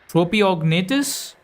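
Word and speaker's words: Tropeognathus: Tropiognatus? Tropiognathus. Tropiognatus. Okay. You're going to be a hard one to pronounce.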